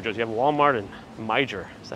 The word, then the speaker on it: Meijer: It's pronounced Meyer.